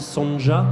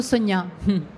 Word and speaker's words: Sonja: Alors, je pense qu'on dit Sonja, comme elle est hongroise, ou Sonia. Sonja, oui, m'a accompagnée pendant tout le temps de l'écriture avec cette cette prononciation. Mais on dit plutôt Sonia.